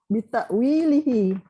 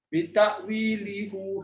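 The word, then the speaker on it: بتأويله: Kenapa hi bukan hu? Hi, bi. Sebab dia ada bi bawah depan. Sebab huruf sebelumnya berbaris kasrah. Kasrah. Bitakwilihi dengan takwilnya. Jadi lihi bukan lihu. Itu saya kata ejaan tu berubah dalam hu, asal hu jadi hi kerana sebutan. Kerana kalau kata dia tetap hu, bitakwilihu susah nak sebut. Bitakwilihu susah. Dia mudahkan jadi bitakwilihi.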